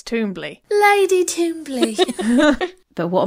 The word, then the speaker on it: Twombly: So in the audiobook, it's Twombly.